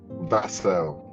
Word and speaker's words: Vassell: Linton Vassell, is it? Is that the best pronunciation? Because I hear them pronounce your name so many different ways. Vassell. Yes, give thanks.